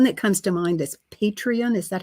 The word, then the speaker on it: Patreon: artists that one that comes to mind is patreon is that how you say it yeah are